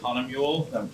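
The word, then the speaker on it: Hahnemühle: of paper is this this is Hana mullah copperplate Hana mullah is a is a paper company out of Germany I've also heard it pronounced here Hana mule if that rings a bell to anyone he also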